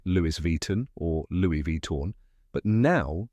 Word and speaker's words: Louis Vuitton: but did you know in France native speakers often dro the Final End sound slightly so you might hear it as Louie Vito with a subtle nasal sound at the end that's the authentic French way but saying Louie Von